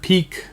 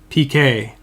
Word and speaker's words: Piqué: one a 25 Gerard piqué oh I know I just said it wrong again didn't I PK I learned something from last time this is a guy his name is PK right Gerard piqué for